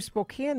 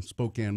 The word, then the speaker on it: Spokane: So I went to Spokane this weekend because my niece was graduating from Gonzaga. Go Bulldogs! I spent some time in Spokane when I was a very young person.